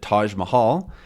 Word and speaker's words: Taj Mahal: it, the Taj Mahal, which is not an English word. So this is how we pronounce it, Taj Mahal.